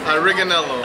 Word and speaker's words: Ariganello: Ariganello.